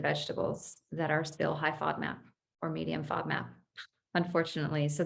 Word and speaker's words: FODMAP: I don't know a lot about FODMAP. Is that how you pronounce it?